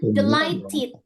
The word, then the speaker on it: delighted: Ini cara bacanya delighted. Jadi dalam bahasa Inggris kalau ada kosakata diakhiri dengan t atau d gitu ya, maka ini harus dibunyikan-nya dan ded-nya dibunyikan contoh ini. Jadi bukan light delighted i.